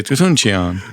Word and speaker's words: Toutounchian: If you say it slow, you get stuck in the middle. So you got to say it fast. Yeah, they go Toutounchian, and so you got to say Toutounchian.